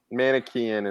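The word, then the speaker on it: Manichean: then we got Gnostic manikian is that here pronounce that manikan is how I heard it pronounced from James White and I assume he's correct well he's always correct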